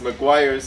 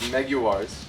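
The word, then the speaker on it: Meguiar's: It's the one where we mispronounced Maguires as Meguars, and we got flamed quite a bit for.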